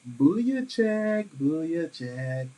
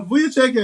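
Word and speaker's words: Vučević: Vucevic. So Vucevic had 24 and 17.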